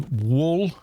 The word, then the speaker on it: wool: right confirm wool wool there's no way in that either they've added a h i noticed this with american pronunciation it's like your tongue's paralyzed or something uk come on whoa there you go whoa there's no a h vowel sound it is wool it has always been wool and it was wool